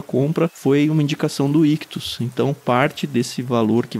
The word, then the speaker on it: Ichthus: Lembrando que Ictus se escreve I-C-H-T-H-U-S.